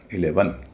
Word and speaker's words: eleven: इ एन के साथ उसका उच्चारण हो रहा है अन तो इसे कहा जाएगा 11 अगर आप 11 को